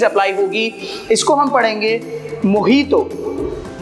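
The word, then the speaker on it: mojito: इसको हम पढ़ेंगे मोहितो मोजीतो नहीं है ये क्या है मोहितो Yes, सही सुना आप लोगों ने तो जे जे इसको हम एच का साउंड प्रोनाउंस करते हैं तो इसको हम पढ़ेंगे मोहितो so last but नॉट द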